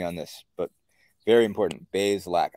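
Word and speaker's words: Bazelak: this but very important bay's lack i think it's one i think it's two syllables too so so we're going to get that right i've been getting it wrong the whole time i've been saying basil lack it's bayes lack bay like bathe like bay uh what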